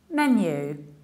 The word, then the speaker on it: menu: word is this one usually people say mini on the new whereas it's menu menu stressed the first level menu in American accent